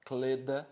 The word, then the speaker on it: kleda: Então pronunciem comigo, ó, Kleda. Percebe como dá até um muco lateral aqui na linha, ó, Kleda.